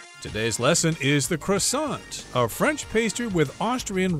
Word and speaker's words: croissant: And it's called the croissant. I'm using the American pronunciation there.